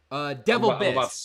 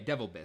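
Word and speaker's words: DeVilbiss: Devil Biss. Devil Biss. Okay, Devil Biss.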